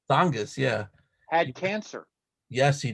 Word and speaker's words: Tsongas: I forgot how you pronounce this guy's name. Paul Tsongas. Tsongas, yeah.